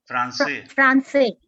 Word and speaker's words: Français: Français. That's a Francais. I'm unable to pronounce it.